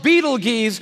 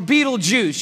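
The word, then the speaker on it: Betelgeuse: this star it's called Beetle geese or Beetle Juice you can pick your pronunciation I'm obviously going with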